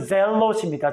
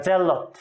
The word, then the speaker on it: 젤롯: 원래적인 발음은 젤롯입니다. 젤롯.